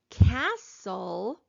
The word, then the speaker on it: castle: it is silent but in the word castle i do not hear the letter t it is also silent so we're gonna cross